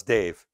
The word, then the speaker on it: Dev: I call him Dev spell Dev pronounce Dave same pronunciation different spelling Dave attacheria CEO of